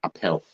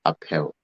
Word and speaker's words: Appau: Richmond is have I pronounced your name probably a power isn't it yes that's close enough the dependent uh where people are from they say a cow but I pronounce it uphill oh apparel because you know that there's a